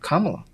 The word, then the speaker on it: Kamala: Her name is not pronounced like that. 45. Kamala. Oh Lord, not Paul. What? Kamala. That's how you say it. Kamala. Not that slow, but Kamala. Kamala.